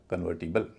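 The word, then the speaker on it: convertible: इसीलिए यहां ओ का उच्चारण ओ ना होके अ होगा। बोला जाएगा कन्वर्टिबल।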